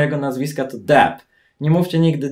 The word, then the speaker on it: Depp: Poprawna wymowa jego nazwiska to Depp. Nie mówcie nigdy Deep.